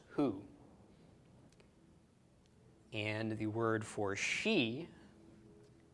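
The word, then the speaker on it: הוא: word for he and him okay but is pronounced who and the word for she is spelled hey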